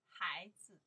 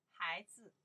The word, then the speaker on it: 孩子: 孩子, you see here, 孩子, the first one, I pronounce the 孩, the second tone, 子, more light. 孩子, 孩子, what I say here, child, 孩子, 孩子, child.